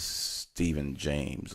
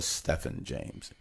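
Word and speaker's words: Stephan James: played Walter Cruz was his name is Stephen James or Stefan James depends on who you ask you know some people say my name is Stefan's not Steven whatever dude so Stefan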